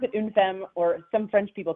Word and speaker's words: Une Femme: Yeah, we call it une femme, or yeah, we pronounce it une femme, or some French people call it une femme, but it means one woman in French.